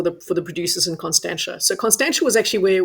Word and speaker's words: Constantia: to Cape Town then and let's check out Constantia um did I pronounce that right Fiona yeah absolutely getting better